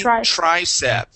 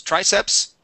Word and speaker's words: tricep: below this is the tricep okay we don't we don't pronounce the S at the end uh no no s